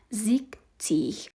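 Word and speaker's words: sechzig: نو په شپېتو کې هغه نه راځي. په شپېتو ته موږ وایو چې زیکتیغ.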